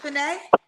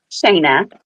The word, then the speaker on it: Shayna: Is it Shanae? Shayna. Shayna.